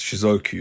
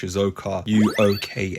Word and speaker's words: Shizuoka: that right you idiot it's not pronounced shizuku is pronounced shoka UA I know C I'm